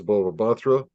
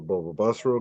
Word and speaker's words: Bava Batra: Okay, so this goes to Talmud that we've had many times, Bava Batra, or Bava Basra in another pronunciation.